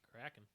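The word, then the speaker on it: Krak'n: see it's something called a crack in uh it's spelled k-r-a-k apostrophe i n Kraken it is the Kraken 2.0 and it is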